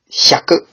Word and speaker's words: 百: Hyaku is how this one is generally pronounced.